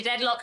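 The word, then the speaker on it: Dedlock: the storyline of Lady deadlock and Esther and you know the fact that lady deadlock had a child out of wedlock I'm pretty sure her name rhymes with wedlock on purpose but also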